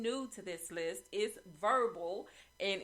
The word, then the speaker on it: Vurbl: and guys, brand new to this list is Verbal, and it's spelled VURBL, and also Luminary.